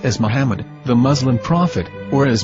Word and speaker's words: Muhammad: According to Ben Yehuda's Hebrew English Dictionary, it is correctly pronounced as Muhammad, not Mamad. So how we're going to know for sure if it's pronounced as Muhammad, the Muslim prophet, or as Mamad, a random Hebrew word?